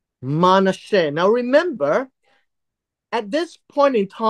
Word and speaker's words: Manasseh: This is pronounced as Manasseh, right? Manasseh. But there is this little